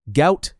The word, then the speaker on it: Gout: They fled the country, spent years in Egypt, and arrived in Australia in 2005, 2 years before Gout was born. His name rhymes with Pout, a misspelling that happened when the family's name was transliterated from Arabic.